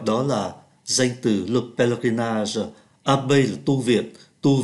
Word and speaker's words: pèlerinage: La baie du Mont Saint-Michel est un lieu de pèlerinage. Pèlerinage là chúng ta không phát âm ký tự ơ giữa, đó là sự hành hương.